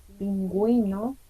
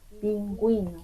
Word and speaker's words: pingüino: we call diéresis, and when you see these 2 points above the vowel U, you have to pronounce like pingüino. Yeah, you see, you can hear the pronunciation. I'm pronouncing the vowel U, pingüino, but that just in